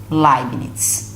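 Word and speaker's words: Leibniz: foi introduzida pelo matemático laires ó pronuncia-se lines está muito bem só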